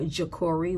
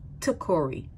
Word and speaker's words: Takori: Now, this guy's name is spelled here Takori with a J, and in every other submission, it's a T, Takori, okay?